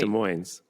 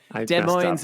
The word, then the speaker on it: Des Moines: That's how it's pronounced, right? Wait. Des Moines.